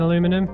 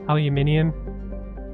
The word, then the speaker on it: aluminium: I'll be honest, guys, I think I kind of prefer saying aluminum because it's quicker. Aluminium, it's just more syllables, isn't it?